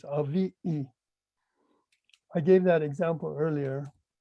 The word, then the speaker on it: aviʻi: It's not aviki in Samoan. I mean, with the T, aviti in Samoan, it's avi'i.